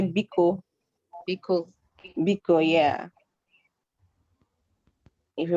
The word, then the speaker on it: biko: Now, in case you want to say words in Igbo like please, words like please, we say biko.